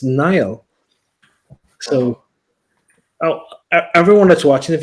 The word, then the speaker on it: Niall: Well, Kam, what's my name? Niall. Yeah, well, English people have a problem with that too. They call me Neil.